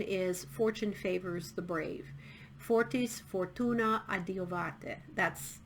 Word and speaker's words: Fortis Fortuna adiuvat: Fortis fortuna adiuvate. That's how you pronounce it in Latin.